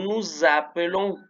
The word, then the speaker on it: nous appelons: palabra empieza con A, la S se va a pronunciar como habíamos dicho, como Z. Acuérdense que era como un zumbido de abeja. Nous nous appelons.